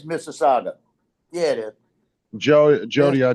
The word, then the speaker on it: Mississauga: It came from Mississauga, Ontario, and it's on the way to Perrysburg, Ohio. I know you just. It's pronounced Mississauga.